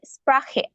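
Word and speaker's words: Sprache: আর যেটাতে স্প্রাখে মানে এ আছে, যেটাতে এ থাকলে ডয়েচে উচ্চারণ হয় স্প্রাখে, সেটা মানে হচ্ছে কি ভাষা।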